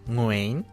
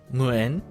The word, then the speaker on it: Nguyen: Nguyen. Why? Apparently that's the southern Vietnamese way, and the northern way is Nguyen.